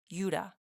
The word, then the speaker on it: Judah: We pronounce it Judah, but in the ancient Hebrew, it would have been a y sound at the front. So it would have been Judah.